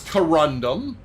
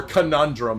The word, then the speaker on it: corundum: a touch higher okay this is corundum or conundrum as I mispronounced many times that's a picker right